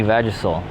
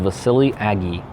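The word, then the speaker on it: Vasiliy Agiy: before it gets cold my name is pronounced Vasily Agee Vasily Agee you are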